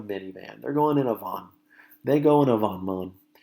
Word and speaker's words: van: word va in which in Spanish is pronounced as Vaughn but in English it sure looks a whole lot like van and you may remember